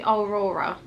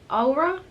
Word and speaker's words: Aura: I think I call it Aurora. These two words are so hard for me to pronounce. It's because there's a highlighter in there that is called Aurora, but the palette itself is called Aura, A-U-R-A.